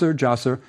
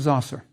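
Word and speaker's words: Djoser: comes from later sources you'll see it spelled the two ways Zas jaser the DJ spelling is closer it approximates the serpent hieroglyph but both ways are correct if we look at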